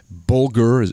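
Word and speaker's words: Bulger: i can't remember but bulgur that's how you pronounce his name is is a lieutenant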